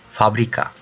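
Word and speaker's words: fabrika: How you pronounce factory in English? So this is same. F, FABRİKA, FABRİKA, FABRİKA, F, FABRİKA.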